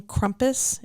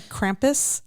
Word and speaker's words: Krampus: it's my fault um we kept saying Krampus and it's actually Krampus yeah yeah so um